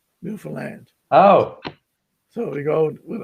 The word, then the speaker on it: Newfoundland: I was going to say to you, the easy way to say Newfoundland, if you do the rhyme, I understand Newfoundland.